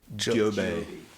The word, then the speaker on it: Joby: It's pronounced DJO-B. Joby. Joby.